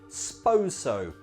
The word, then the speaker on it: suppose so: Commonly we lose the I and we just say, suppose so. But in conversation we speak fast, so it sounds like, s'pose so.